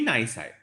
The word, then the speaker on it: nisi: This is how you pronounce it. A draft decree nisi, right?